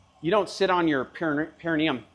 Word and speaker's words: perineum: And another one is, you don't sit on your perineum. You don't support your weight on your perineum. Perineum. You got to have the emphasis on the correct syllable.